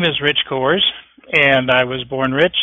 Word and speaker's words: Cohrs: outreach uh the webinar my name is rich coors and i was born rich and as you